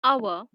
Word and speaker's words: hour: For example, in the word hour, the H is silent. It begins with the vowel sound A.